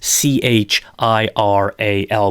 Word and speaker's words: chiral: we say that the molecule is it self chiral that's CH IR al but it's pronounced with a hardcase ound chiral so both of these molecules are chiral this